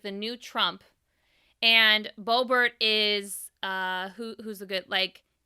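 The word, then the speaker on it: Boebert: difference bobert wanting to it's brobert right i'm saying it right bobert oh okay okay beaubert it it's different she wants to have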